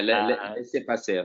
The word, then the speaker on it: laissez-passer: But there is definitely on the Surrogacy Professionals Board a little piece on laissez-passer, or however you pronounce it. Yeah, laissez-passer.